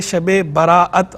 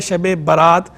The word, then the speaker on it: شب برات: دو طرح ٹھیک ہے، ایک ہے شب براءت حمزہ کے ساتھ، اور ایک ہے شب برات بغیر حمزہ کے، یعنی بیر الف تے